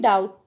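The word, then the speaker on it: doubt: होती सचिन जैसे की बी इन डाउट डाउट में बी लेटर एल इन कूद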